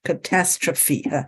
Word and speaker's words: catastrophe: Catastrophe. You would pronounce it with a phi at the end.